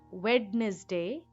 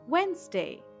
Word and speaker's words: Wednesday: well he did not know that D is silent in this word and the correct pronunciation is not Wednesday but Wensday and that is where